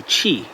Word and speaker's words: Qi: I mean, it's important to remember Qi, pronounced Qi with C-H-E-E, Qi.